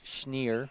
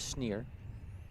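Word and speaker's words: Schnierer: he said it's pronounced schneer it does not look like it says schneer but it says schneer there were a few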